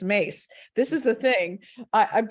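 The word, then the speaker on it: Myss: Nancy e yes and her last name is Mace and it's spelled m-y-s-s okay currently mess okay it's mace this is the thing I've been through years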